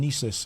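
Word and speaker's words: Gnisis: The G in Nesis is silent.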